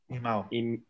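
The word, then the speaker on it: इमौ: do you pronounce the second word? Imo? Imao.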